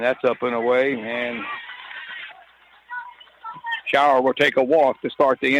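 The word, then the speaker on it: Shauer: yard I was and pronounced Allison's name as shaver but it's shower s-h-a-u-e-r un and he takes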